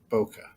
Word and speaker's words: bokeh: If I'm pronouncing it right, is bokeh.